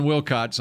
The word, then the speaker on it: Wilcots: I heard Solomon Wilcots on NFL Sirius. You pronounced his name right.